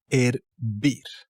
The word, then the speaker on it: hervir: Moving on to hervir. And as you can see, again, the H is a fake character. It's never pronounced. It's just in the way.